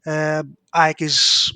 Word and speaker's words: AEK: We call it AEK. So that in case that I say it and sounded weird, but for us it's AEK. Aye. We ignore the initials and we read it. We spell it as a word.